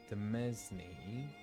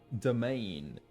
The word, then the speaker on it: Demesne: Demesne. A piece of land attached... It's not Demesne. Domain. Domain? Yeah. Domain.